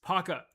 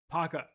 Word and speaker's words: Paka: It's Paka. Paka. AI, get it right. Paka. It's not hard to pronounce.